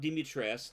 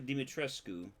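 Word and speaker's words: Dimitrescu: Romanian authorities uh that it is not dimitr it's actually demetrescu that they mispronounce her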